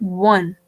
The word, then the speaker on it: one: it we pronounce it one we give the sign or sound of w wow right when we